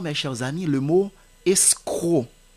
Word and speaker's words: escroc: amis le mot escroc le mot escroc même si il y a la lre C qui termine le mot l'orthographe étant e s C r o C vous n'allez pas dire escroc non c'est escroc la lettre C est muette il y a également